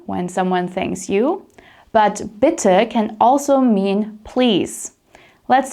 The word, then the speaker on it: bitte: And if someone says thank you to you, you reply with bitte. Bitte, with a short I sound and an sound at the end.